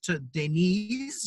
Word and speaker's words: Deniz: So, okay, if we're going to get into the terminology of Turkish, Deniz is how you pronounce my name.